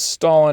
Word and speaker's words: Stalin: Because Stalin has 2 syllables in it. Stalin was. Among his many other virtues, Stalin had 2 syllables in his last name.